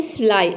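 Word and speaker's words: fly: पे आई ठीक है किसी भी वर्ड के अंत में अगर वाई आता है तो वाई को हम आई प्रोनाउंस करते हैं ठीक है आई इस तरह से इसका प्रोनंसिएशन बन जाएगा फ्लाई फ्लाई का मतलब होता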